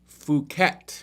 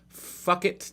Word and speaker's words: Phuket: We're in Phuket. You can't pronounce it the other way or YouTube won't allow us to monetize our video. Phuket, Thailand. Dino Poo. I think it's Phuket. Fuck it, Thailand.